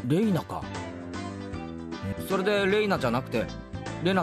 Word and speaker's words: Rena: それで Reina じゃなくて Lena って読むのか?